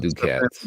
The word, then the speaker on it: ducats: Ducats. So, I've heard it pronounced ducats, but like not ducats. No, do cats.